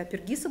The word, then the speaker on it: Апергис: Звучит абстрактно, но я сейчас попытаюсь это проиллюстрировать на примере сочинения Жоржа Апергиса, если, да, если француз, то туда, если грек, то сюда, ударение. Давайте Апергиса будем говорить.